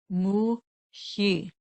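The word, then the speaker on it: Muhyi: That's M as in Mary, U. The transliteration is spelled Hy, Muhi, Muhi.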